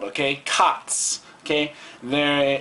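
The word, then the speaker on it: 勝つ: okay um basically it just sounds like it is spelled okay cots okay there it's c a t s silent okay so take a look at this pronunciation okay so when is cots okay so like khatta would mean i won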